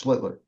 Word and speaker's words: Schlittler: It's Schlittler. I'm still right. Look at how it's spelled.